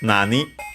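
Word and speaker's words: 何: or better nani ka first nani uh which means is accented on the first syllable and is the pronoun which means what.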